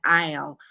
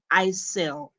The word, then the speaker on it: aisle: down the aisle but it is written the same it is spelled a i s l e but when you pronounce it you kill the S completely it's pronounced i instead of Isel and then Louise says